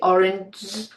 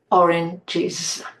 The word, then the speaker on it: oranges: We can't say orang. We need to separate and we put in the sound E there. oranges.